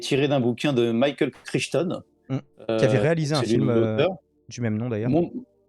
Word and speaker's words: Crichton: Alors c'est le même Michael Crichton qui avait fait ça prononce Jurassic peut-être Park. Crichton, ouais.